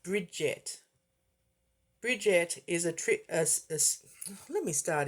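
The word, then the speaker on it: Brigid: Pronounced Bridget.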